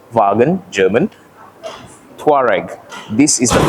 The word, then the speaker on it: Wagen: the all new Volkswagen yes that is how you pronounce it folks vagen German tare this is